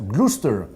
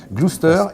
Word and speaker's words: Gloucester: l'orgue luz esther ça s'hérite ou ça se prononce gloucester gloucester et vous êtes désormais l'entraîneur du roi normandie